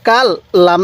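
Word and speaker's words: كلا: শুদ্ধ ভাবে পড়তে পারবেন এরপরে কাফ লাগবে এই লামের সাথে কাল লাম আলিফ জবর লা কাল্লা এক আলিফ টান দিব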